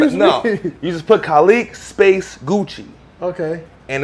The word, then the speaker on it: Kalique: only a first name my first name is colleague you spell it ka l IQ as in Quincy you